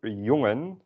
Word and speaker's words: jongen: In general, you kind of not really pronounce the N at the end. You can do it to varying degrees, and the more you pronounce it, the more formal your language sounds.